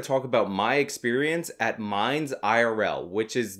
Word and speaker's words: Minds IRL: about my experience at mines IRL which is not to be pronounced mines zero as IRL actually stands for in real life bet you guys didn't